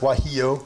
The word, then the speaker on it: guajillo: guajillo yeah it's this that's pronounced wahiyo the g is surprised you didn't ask